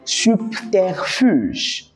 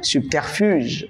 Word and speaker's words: subterfuge: Le troisième mot, c'est subterfuge. Déjà, ça s'écrit avec B, mais les B se prononcent peu.